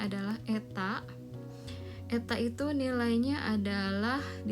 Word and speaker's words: eta: Ya, elastisitas dari suatu fungsi y sama dengan fx itu bersesuaian dengan x dapat didefinisikan sebagai, nah ini notasi ini kita bacanya adalah eta.